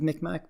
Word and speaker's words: Mi'kmaq: I always pronounce it as Micmac because I live near the Micmac, and they always said Micmac, but I've heard it pronounced both ways.